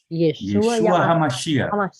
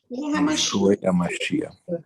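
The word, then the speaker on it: ישוע המשיח: Yeshua HaMashiach. Por favor, todos repitam. Yeshua HaMashiach. Yeshua HaMashiach.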